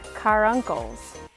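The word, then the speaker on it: caruncle: about the muscavi duck they have car uncles that's how you say it it's like cat wrong okay cat uncle so they're like turkeys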